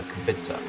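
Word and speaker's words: Kubica: I believe it's based off the F1 driver and they pronounced it uh Kubitza.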